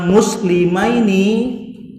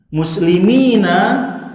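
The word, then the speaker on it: مسلمين: Kalau kita bacanya muslimaini, berarti artinya apa tadi? 2 orang muslim. Tapi kalau nunnya nanti kita fathah, ini di kasroh mimnya muslimina, ini artinya banyak sok muslim.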